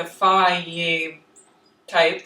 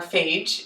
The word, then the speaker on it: Fage: Greek style strained yogurt like the F type that everyone loves or Fage if you just want to say it like it's spelled in English and this will by